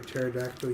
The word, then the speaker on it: pterodactyl: you never hear a pterodactyl use the restroom because the p is silent that's it okay okay